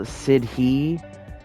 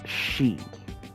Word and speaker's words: Sidhe: Even though it's uh spelled Sidhei, which I usually do say, it's apparently pronounced she. And a she is a city where fairy folk live.